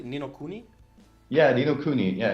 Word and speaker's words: Ni no Kuni: And Ni no Kuni? Mhm. Nino, So yeah, did I say it correctly? Ni no Kuni?